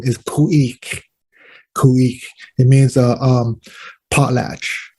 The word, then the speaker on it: Khu.éex': come from ah the proper pronounced innate uh pronunciation of the uh the name is pouique it means a um potlatch in uh shrink